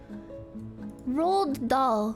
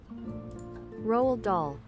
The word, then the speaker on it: Roald Dahl: How do you pronounce that name? Roald Dahl. Roald Dahl.